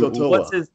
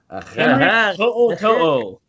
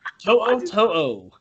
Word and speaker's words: To'o To'o: To'o To'o. What? To'o To'o. To'o To'o. There's no A. How that's pronounced, man. It's like a Hawaiian. Like if you took the apostrophe out, it would be Henry Tutu.